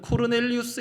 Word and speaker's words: 코르넬리우스: 구제하고 하나님께 항상 기도하더니 고넬료이 한글 번역의 로마식의 발음은 코르넬리우스 있니다 코르넬리우스 군인이고 또 이방인입니다